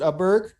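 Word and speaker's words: Åberg: just waiting for it to happen but ludwig ayberg i believe is how you pronounce it upberg would be the correct way um a golfer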